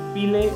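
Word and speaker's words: Pileh: আমাদের পরবর্তী স্পটটা ছিল পিলে লাগুন, অনেকে বলে ফি লাগুন, ফে লাগুন, ফা লাগুন, এক একজন এক একটা উচ্চারণ করে। আসলে নামটা হচ্ছে পিলে লাগুন।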